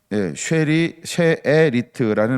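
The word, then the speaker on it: שארית: 이 남은 백성이라고 하는 거, 이것은 뭐냐 하면 쉐르트, 쉐라는 수에다가 에 발음, 그래서 쉐에리트라는 말인데, 이 말은 어떤 뜻을 가지고 있냐면 나무에 남아있는 부분을 이야기할 때 쓰는 용어.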